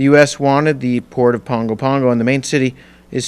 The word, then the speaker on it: Pago Pago: the local airport to Pongo Pongo don't say Pago Pago even though that's how it's spelled public transportation easily available